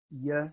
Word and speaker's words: ye: the past few years you should call it yeah rather than eg I got and the